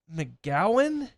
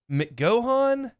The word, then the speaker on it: McGohan: of their names Jackson McGowan mcgohan McGowan I don't know m c g o h a n it feels like it might be McGowan because that's like a common name even